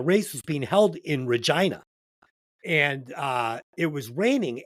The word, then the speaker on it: Regina: his second assault and this is why Regina rhymes with fun I in tears that writing